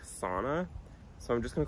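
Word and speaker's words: Sanne: to pronounce it but on the website it says it's pronounced something like sauna so I'm just gonna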